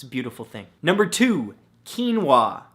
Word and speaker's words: quinoa: beautiful thing number two quinoa spelled ke en wuah no that's not how it's spelt at all but it should right come on English now the